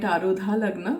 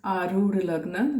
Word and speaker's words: Arudha Lagna: Now, some people call it Arudha Lagna, but the real pronunciation is Arudha Lagna, which means something that is imposed upon you, something that is not real, and your image actually.